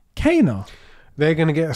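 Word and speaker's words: Kena: What do you think about Ember Labs, the guys who made Kenna Bridge of Spirits, saying Kenna is pronounced Kana?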